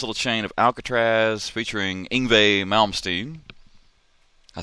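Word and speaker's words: Yngwie Malmsteen: did a nice little chain of Alcatraz featuring inve malmstein I said it right duck yeah that's how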